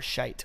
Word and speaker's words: shite: still meant shit or shite or sheet. I know. Well, basically, when it's SHITE, you pronounce the E, so it would be shite.